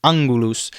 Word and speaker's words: angulus: Now, the G in Latin is also always hard, as in Gallia. It is also hard in the middle of a word. For example, angelus or angulus. The G is always hard.